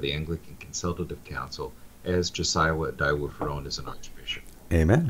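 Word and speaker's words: Josiah Idowu-Fearon: is a province that Justice, how do you pronounce his name? Josiah Adawu-Ferong.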